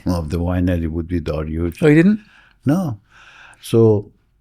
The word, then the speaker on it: Darioush: The Darius the King of Persia, Achaemenian, 2,600 years ago. Mm-hmm. Pronunciation in US is Darius, but in the correct pronunciation in Farsi is Darioush.